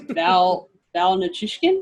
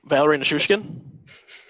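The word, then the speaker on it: Valeri Nichushkin: Have you seen that one clip where I'm going to botch his name because, again, I can't pronounce names. Val Nichushkin? Is that how you say it? Valerie Nichushkin?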